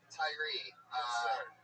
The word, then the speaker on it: Tyrhee: There's a silent what? A silent H in it. The H. You don't even pronounce right.